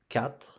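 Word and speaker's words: quatre: 4. You pronounce 4. You don't pronounce the U here.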